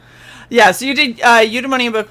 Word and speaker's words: Eudaimonia: That's the official pronunciation. He just said it. Eudaimonia, I got you.